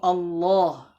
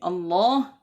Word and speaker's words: الله: Dan tebalkanlah suara huruf lam pada lafal jalalah, yaitu Allah. Jadi Allah itu dibaca tebal. Nah, jika sebelum lafal tersebut terdapat huruf yang berharokat fathah atau dhammah, seperti pada kata abdullah. Nah, seperti kata abdullah itu ditebalkan.